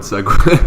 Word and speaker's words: segue: Awkward segue.